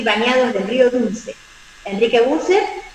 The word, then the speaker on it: Bucher: digamos, el editor es el doctor Enrique Bucher, se escribe, se dice Bucher, Enrique Bucher.